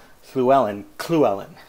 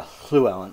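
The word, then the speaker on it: Llewellyn: bed and breakfast where a guy pronounced Fluellen clue Ellen clue Ellen with a kind of a percussive at the beginning clone Sarah attends to say Sue Ellen I think it's more of a clue Ellen Fluellen but you know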